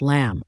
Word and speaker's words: lamb: information next is the word lamb pronounced lamb a lamb is a baby sheep